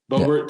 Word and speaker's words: Boebert: Boebert, yeah.